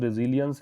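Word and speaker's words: resilience: इसका pronunciation रिजिलियंस है, flexibility एक प्रकार से कह दीजिए।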